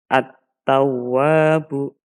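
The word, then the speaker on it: التَّوَّابُ: dimaksud dengan Idham Syamsiyah Adapun nanti cara membacanya lamnya tidak terbaca sebagai contoh di sini bertemu dengan ta ada contoh attawwabu Nah di sini lamnya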